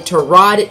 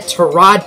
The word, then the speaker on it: Tyrod: Mathias Fairley rejected, but Bryant Poole and Tyrod Taylor accepted. Yes, I just said Tyrod Taylor. If you did not know, that is how he actually pronounces his name. We've been pronouncing it Tyrod all of these years, but it's actually Tyrod.